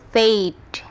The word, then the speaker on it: fade: Maka huruf A yang ada di sini akan berbunyi seperti ejaannya. E jadi fade ada juga made blade, made rate dan lain sebagainya.